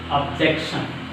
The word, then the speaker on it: objection: What is the second syllable from the end? This is the one and this is the two. So second syllable from the end is J. objection, objection, objection, object. J is highlighted one. J is a highlighted one.